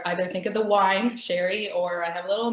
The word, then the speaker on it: Sherry: I am Sherry. Yes, that's the correct pronunciation.